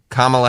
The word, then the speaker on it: Kamala: name spell before and to me it's always been kamala yep you know kamala haris yeah i think that's even worse oh that's not good oh kamala kamala harris i said it right that's better okay all